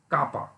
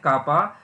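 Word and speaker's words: κ: से रिप्रेजेंट करते हैं विच इज प्रोनाउंस एज कापा। इसको हम एक ग्रीक लेटर से रिप्रेजेंट करते हैं, इट लुक्स लाइक के, और इसको हम क्या प्रोनाउंस करते हैं, कापा।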